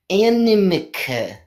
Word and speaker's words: Animica: It sounds like a small child trying to say anemone, or however that...